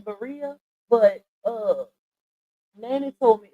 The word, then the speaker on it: birria: It's I say birria, but Nanny told me it's pronounced birria.